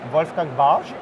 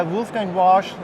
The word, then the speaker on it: Wolfgang Warsch: If you want to spell it like a German one, you have to say like Wolfgang Warsch. Wolfgang Warsch. But we can try Wolfgang Warsch.